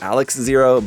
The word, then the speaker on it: XARX-ZERO: it as Alex, but it also sounds exactly like just the Japanese pronunciation of RX.